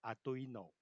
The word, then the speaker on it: Arduino: 音，所以我才会念 Arduino。